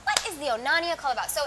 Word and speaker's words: Onania: How do you pronounce the name? Onania? The Onania Club.